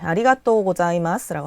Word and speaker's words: ありがとうございます: 네, 아리가또 고자이마스라고 하면 돼요. 이 자 발음도 한국 사람이 하기 힘든 발음인데 사 이렇게 사 발음을 할 때 그 입모양이 그대로 유지된 채로 목을 성대를 떨리게 해줘야 돼요.